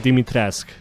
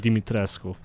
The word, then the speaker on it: Dimitrescu: I think I'm pronouncing the name right. I'm not too sure. At least I nailed Dimitrescu instead of saying Dimitrescu.